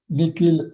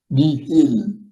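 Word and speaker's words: nihil: une déformation du grec le H quelquefois est prononcé comme K c'est écrit n I h I elle ni il mais on peut dire niil obstacle obstacle un obstacle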